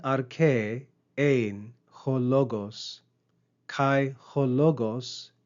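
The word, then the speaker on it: ἦν: Compare the verb ain and the preposition en. Notice the long eta, ain, on the verb and the short epsilon, en, on the preposition.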